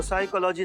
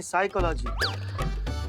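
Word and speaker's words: psychology: तो साइकोलॉजी नहीं, साइकोलॉजी। P silent होता है।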